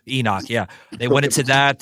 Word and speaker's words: Enoch: if I pronounced that right. Enoch. Enoch, yeah.